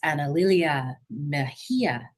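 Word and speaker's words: Analilia Mejia: and I am so pleased to introduce Miss Analia Mahia, the executive director, co-director, sorry, of Popular Democracy.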